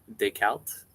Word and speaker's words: Descartes: I pronounce it the French way, and everyone flips out. Descartes.